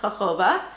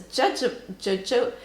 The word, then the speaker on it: jojoba: Living here in Spain, it actually is pronounced jojoba. But I had been taking British courses online for fabrication of cosmetics, and actually in British they do say the J sound, and it's jojoba, jojoba oil.